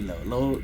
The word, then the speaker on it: Leo: They call me Leo. Leo is how you say my name in Spanish.